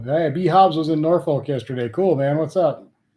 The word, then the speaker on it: Norfolk: east of me but I call it Norfolk which is I believe the proper way to say that word Norfolk but everybody in Nebraska calls it North Fork not sure where they get North Fork out of that word but that's what they